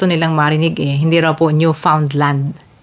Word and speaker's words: Newfoundland: Bakit ba binibigkas ko siya na Newfoundland and Labrador? Yun daw po kasi ang gusto nilang marinig Hindi raw po Newfoundland.